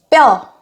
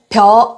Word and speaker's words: 뼈: 많아서 항상 바쁘다 땀은 뼈 벼 아니고 펴 아니고 뼈요 입니다 뼈 4 의